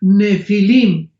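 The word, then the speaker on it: Nephilim: Nepilim se pronuncia nefilim en el original hebreo.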